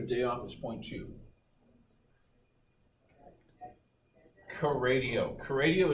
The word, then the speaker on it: Kradio: Kradio is spelled K-R-A-D-I-O, where the K-R stands for K on the right.